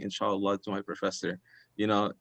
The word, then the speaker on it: inshallah: yeah so yeah so he said inshallah and um or the right way to say i guess is insha allah and uh it means if god wills and so normally we